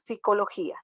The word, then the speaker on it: psicología: que la psicología cuando en realidad sí tiene p al inicio pero se pronuncia como igual verdad psicología psicología y psicología verdad